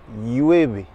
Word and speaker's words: llueve: Par contre, attention, quand vous avez deux L, hola floppy, quand vous avez deux L, ça se prononce comme un Y. Y. Par exemple, il pleut, llueve.